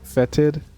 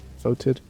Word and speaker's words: fetid: It smells fetid. Is that how you say that? Foetid? It's like someone foetid. Someone foetid and it stinks. I think it's pronounced fetid.